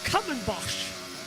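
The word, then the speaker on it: Kumhobocht: but it says the last Corner the the common boss is how it's pronounced k-u-m-h-o-b-o-c HD so there's the combo boss the last corner here muscle up to the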